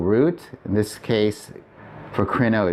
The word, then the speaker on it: κρινῶ: So here's crino with the acute accent on the first syllable. That's the present active indicative. This means I am judging. Here's crino with the accent on the second syllable in circumflex, and that's I will judge.